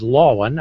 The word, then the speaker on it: Lowen: Next in line is Lisa, and I learned that your name is Lowen. I almost gave it the German pronunciation.